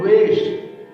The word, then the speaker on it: द्वेष: बोल देते हैं कि देश बुद्धि विनाश है, यानी पूरे देश की बुद्धि का विनाश हो जाए। तो देश नहीं है, आपको क्या बोल रहे हैं? द्वेष। द्वेष, द्वेष यानी राग द्वेष।